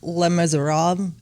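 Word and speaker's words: Les Misérables: Ooh, Les Miserables.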